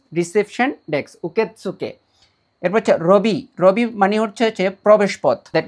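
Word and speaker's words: ロビー: জাপানিসে ল, ল শব্দটি কিন্তু জাপানিসে নেই, এই লটাকে জাপানিসে র বলে, ঠিক আছে। ওরা ল প্রোনাউন্সিয়েশনটা করতে পারে না, সো মাথা রাখবেন এটা ইংলিশে লবি, তো জাপানিসে হবে রবি।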